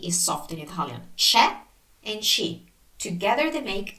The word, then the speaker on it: c'è: So when the C is followed by E or I, it's pronounced as in church. So c'è, ci, c'è, c'è, c'è, ci, ci, ci.